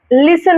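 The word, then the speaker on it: listen: কিন্তু আমাদের জানতে হবে এটার উচ্চারণটা লিসেন হবে ঠিক আছে এসটিন কিন্তু উচ্চারণটা লিসেন বাস করা হচ্ছে টু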